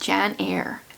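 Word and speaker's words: Janyre: says with a question mark her name is pronounced Jan air um where does it tell me what happens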